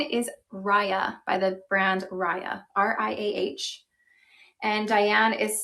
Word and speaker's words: Riah: And I'm showing the color, this is Hazelwood Brown, which is one of our newer colors that we have introduced for Riah, which I was mentioning, this is a really